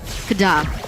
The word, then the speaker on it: KDA: the KDA machine himself you're saying it wrong the kadada machine kadada kadada there you go you got it yes we know how